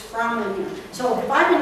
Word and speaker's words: Framlingham: to be Fring him the man at the castle said no no no no no not Fring him it's froming him so I been mispronouncing